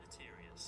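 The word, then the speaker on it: deleterious: How how would you say delatorus as a br or delit deliterus or delarus? Del. Oh, you know what? Delatorus. How would you say it, Google? Delterious.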